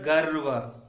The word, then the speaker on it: गर्व: इस तरह आगे देखेंगे और भी शब्द हैं, जैसे यहाँ पर देखिए ग में ग जमा र की मात्रा जमा व मिलकर गर्व।